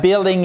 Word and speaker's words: building: That building is huge. OK. Et c'est pas le building to build. Building to build c'est construire. Vous ne prononcez pas le U.